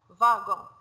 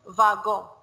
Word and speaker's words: wagon: V, vache, W, wagon, we pronounce it like va, wagon, sometimes it will be va, sometimes it will be wa.